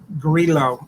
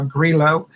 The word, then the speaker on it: Grillo: and uh and the grape that is in this wine is grilo it's spelled grillo g-r-i-l-l-o uh grilo and it's made by